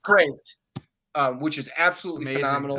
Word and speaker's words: Kreeft: I forget how to pronounce his last Craft. name. They say Craft. Kreeft, which is absolutely Amazing.